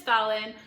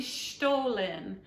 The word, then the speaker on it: Stollen: Christmas fruit bread, and I actually had to go online because I think I was saying it wrong in my other video. It's actually Stollen. There was a gentleman who had a little video that said how to say stolen, and I've been saying Stollen this whole time, I think.